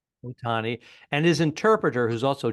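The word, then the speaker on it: Ohtani: what do you take in this show Otani the gambling with The Interpreter you buying any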